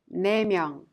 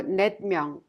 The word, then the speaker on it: 네 명: And 둘, 셋, 넷, with a counting unit 명, each final consonant drops. Thus, we pronounce 두 명, 세 명, 네 명, instead of 둘 명, 셋 명, or 넷 명.